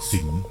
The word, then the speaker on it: กสิณ: การ มี ฤทธิ์ กสิล ซึ่ง อ่าน ว่า กสิล พจนานุกรม ฉบับ ราชบัณฑิต สยสถาน